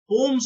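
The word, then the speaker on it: poem: पोम्स होता है उसका प्लुरल, तो यहाँ पे आएगा नो पोम्स। इसको पोयम नहीं बोलते हैं, जनरली हम लोग पोयम बोलते हैं, पोयम्स। वैसे इसका करेक्ट प्रोनाउंसिएशन है पोम।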